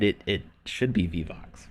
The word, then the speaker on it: Vivox: Vivox. It's gonna haunt me. I think I'm the one who said it should be Vivox, right?